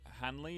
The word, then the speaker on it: Hanley: So Hanley is his last name. Is how you pronounce it. Hey, Yeah, Jack Hanley.